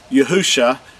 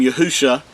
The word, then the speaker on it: Yahshua: This is the Mashiach's name, Yahshua. This is from left to right. The first three letters are pronounced as Yahu, and the last two letters are Shah.